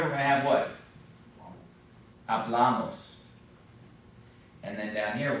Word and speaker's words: hablamos: But on this one, because it adds a few syllables, we end up with second to last, because it ends in an N, an S, or a vowel, so it's hablamos.